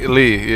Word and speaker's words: Zyi Li: We'll How you take care of pronounce you. your name, Zeely? Zyi Li, yes sir.